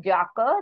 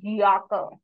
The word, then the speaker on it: Jacke: will be y so this is not jaka this is yaka yaka yaka means jacket